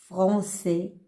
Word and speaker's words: français: Regardez, toujours français, ça s'écrit avec cédi sous C pour prononcer C. Parce que c'est avec A, c'est K. Mais pour éliminer le son K, on ajoute cédi pour prononcer le son S ou C.